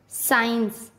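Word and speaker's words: science: एस के बाद सी आता है तब सी का उच्चारण नहीं किया जाता। जैसे एशेंट, साइंस, सीन, डिसाइपल।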